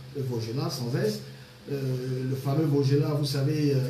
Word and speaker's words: Vaugelas: Vaugelas, ça s'écrit avec S, mais ça se prononce Vaugelas sans S.